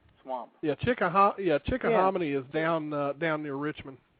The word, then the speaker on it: Chickahominy: m i n y swamp yeah chick yeah chick hamony is down down near Richmond yeah I I'm familiar with Chickahominy okay all right so I I pronounced that correct yeah all right he want